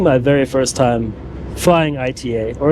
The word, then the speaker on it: ITA: very first time flying ITA or as I've learned in Italian it's called ITA I'm not really sure